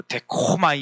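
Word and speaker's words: δέχομαι: 그 원어를 찾아봤더니 데코마인 여기 코가 약간 후드 이래요 그래서 데코마이 이렇게 발음해야 된다는데 전혀 모르는데 그냥 써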